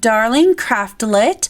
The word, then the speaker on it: Darling Craftlet: you pronounce my username you pronounce it darling craftlet and you say craftlet like you would chocolate and it just depends